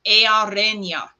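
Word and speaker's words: Eärenya: This is called the Sea Day or Mariner's Day, and it's pronounced Earenia. Earenia.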